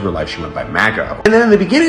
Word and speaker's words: Margot: where they call her Margot when an Australia is pronounced Imago I think people with Australian accents normally have the letter R be more silent when it's in between